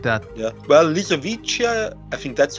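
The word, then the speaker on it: Lisowicia: Well, Lysovischia, I think that's how you pronounce it.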